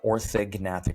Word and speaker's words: orthognathic: Yeah, orthogonatic surgery. That's how you pronounce orthognathic surgery. You do pronounce the G.